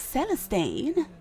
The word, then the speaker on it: Celestine: My name's Celestine. Well, how do I? Thank you, How thank do you you. spell that? C as in cat. Elestine. Kind of like celestial. Oh, Celestine.